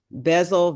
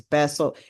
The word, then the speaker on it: Bessel: called The Body Keeps Score, and it's by Bezel Vander. Oh, I can never pronounce his name. Colt Coates, Vander Coates, VanderKolk. It's Bessel, and it's called The Body Keeps Score.